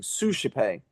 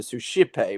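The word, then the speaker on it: suscipe: But yeah, if you if you know that you're singing sushipe as opposed to sushipe, which you could think it was because a lot of Latin um words, as I said, are stressed on the antipotenotimate syllable, that will really help.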